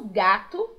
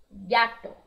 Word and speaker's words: gato: Temos o gato, que também é um animal de estimação muito comum, que em espanhol se escreve da mesma forma e a pronúncia é um pouquinho diferente. Gato, gato, gato, com o A, né, um pouco mais longo.